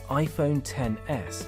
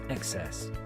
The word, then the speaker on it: iPhone XS: let's get it clear it is pronounced iPhone 10s and not XS clear-rite Apple unapologetically prices